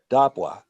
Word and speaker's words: dapwa: you're a Naskapi speaker, then you know that dapwa is only pronounced ever dapwa. It's always dapwa. It's never dapwa. It's dapwa. So we know that those are two long vowels.